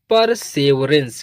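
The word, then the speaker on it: perseverance: एन से आधा न यहां होगा और सी से स पढ़ेंगे और इ लास्ट में है तो इ का प्रोनंसिएशन नहीं होता। जिन वर्ड मीनिंग के लास्ट में इ आता है उसका प्रोनंसिएशन यानी उसको नहीं प्रोनाउंस करते। तो अब इसको मिलाकर पढ़ेंगे। यह हो जाएगा परसेवरेंस। क्या पढ़ेंगे? परसेवरेंस।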